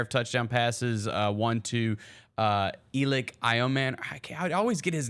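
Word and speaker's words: Elic: had a pair of touchdown passes, one to Elik Ioman. I always get his name wrong.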